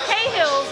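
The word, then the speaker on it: Cahill's: So here I am with Ann over here at the Door Hills and on Durham, right? Door Hills on Durham. Cahills. Yeah. Door Hills? How do you pronounce the bar? It's Cahills on Durham.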